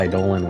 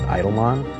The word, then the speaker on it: Eidolon: didn't have voice acting, so I think I pronounced it Eidolon, which I didn't like how that sounded.